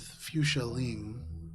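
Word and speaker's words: Fuchsia Leeng: keeping your dealings with Fuchsia Ling to yourself. We have a name. Can you spell that for me? F U. It's fuchsia, the color, but then lean.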